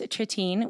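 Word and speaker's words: Trittin: So Dennis Tritine, which I always said his name wrong, but Mhm. that's how you say his last name, right? Yeah. Tritine, who is he's actually lives in my hometown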